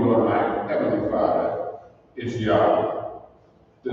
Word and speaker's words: Yahweh: In order to make the Hebrew tetragrammaton pronounceable Yahweh in English, as it is pronounced Yahweh by the Hebrew speaking people, we as English speaking